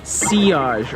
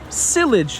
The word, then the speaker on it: sillage: up we have is C OSH or cyllage as some people pronounce this is one that